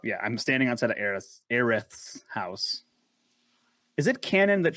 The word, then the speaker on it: Aerith: So Japanese pronouncing Aerith and US pronouncing Aeris sound almost identical.